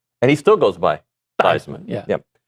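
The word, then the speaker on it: Theismann: providing a pass rush, he should change the pronunciation to Anto Saka, much like Joe Thesman. Changed his name to Thyman.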